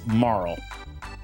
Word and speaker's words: Marle: name is uh Okay, so her name is Marl. When I was growing up, I called her Marley. So, I may slip up and call her Marley quite a bit. She was a Marley.